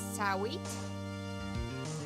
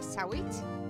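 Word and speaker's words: Sahwit: Saw it. What do you think? It's saw it to the stand. I think H is silent. It's like how you say saw it.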